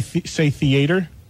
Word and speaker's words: theater: No, you use 3 syllables. It should be 2.